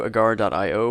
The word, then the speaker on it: agar.io: a request to do a guard I owe or agario I had no idea I will stick to pronouncing it agario because that's how I i know it agario was a game